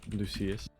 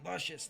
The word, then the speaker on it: Lucius: Some people say luscious, like, you know, like when you have a nice outfit or something, you know, luscious.